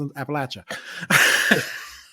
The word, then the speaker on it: Appalachia: For all my friends, for all my friends who are from that area, I'm going to pronounce it the way it's supposed to be pronounced, Appalachia.